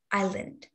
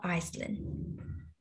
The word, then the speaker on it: island: island okay not iceland the s here is silent so it is pronounced island not iceland okay on the island